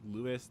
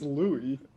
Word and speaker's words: Louis: I think it's Louis. Louis Lewis. Yeah, the S is silent.